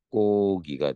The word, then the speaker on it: 닭고기: 그럴 때 기본형이 다로 끝나는 말에 리을 기억 받침 좀 봐봐. 닭의 기본형이 닭다는 아니지. 그래서 리을 기억이 있는데 다로 끝나는 말 속에 리을 기억이 아니기 때문에 뒤에 거 발음해. 그래서 어떻게 발음? 닭고기가 돼.